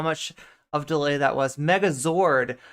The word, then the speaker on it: Megazord: Did I just always think it was Megazorg when it's Megazord? I'm definitely bothering at least a some subsection of chat by pronouncing it Zorg instead of Zord.